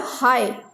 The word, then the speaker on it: high: Here high, here again G is silent.